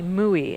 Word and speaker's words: mooi: Mooi, M-O-O-I. What a great dump. That one is from Dutch and Afrikaans. It's mooi, kind of is how you say it, and it's something that's beautiful or pretty.